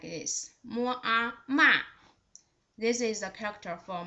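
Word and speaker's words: 马: The third one with the third tone, its pronunciation is just like this. Mo a ma.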